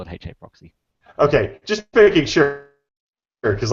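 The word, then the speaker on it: HAProxy: You pronounced it Ha proxy. I've always called it HA proxy. Yeah, What's up with so do that? I was doing that because it was a hangout a while back where I think Jake was pronouncing it hard proxy and we were giving him shit.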